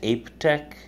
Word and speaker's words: Aiptek: an AIP pte K I believe it's pronounced AP Tech um it's 35 lumens